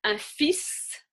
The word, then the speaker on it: fils: Quelques exceptions, un fils, so the S, a fils, a son, you would pronounce.